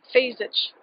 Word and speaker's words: Fejzic: Fejzic. On my website, a single line. Fejzic is pronounced Fej-zic. If you can say Nietzsche, you can say Fejzic.